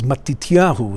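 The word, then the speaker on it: מתתיהו: to hebrew okay but is matityahu this is the pronunciation in hebrew of your name and as i've told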